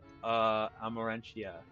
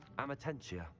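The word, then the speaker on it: Amortentia: That is Amarantia. Amatentia. That's the answer. I pronounced it incorrectly.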